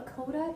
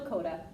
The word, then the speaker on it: coda: there was a little coda, or yeah. I gave them the hint for the word coda today. It rhymes with Yoda, and all of a sudden they go, coda!